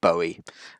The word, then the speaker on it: Bowie: It's David Bowie. So just think of David wearing a bow tie, and you'll remember that one.